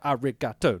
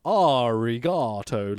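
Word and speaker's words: ありがとう: So it's like arigato, not arigato, like we would pronounce it.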